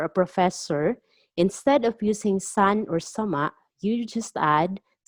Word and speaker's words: san: mr miss or mrs literally means sun or sometimes pronounced as sang sun or sang so regardless of the